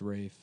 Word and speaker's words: Ralph: It's pronounced Rafe, but it's spelled like Ralph.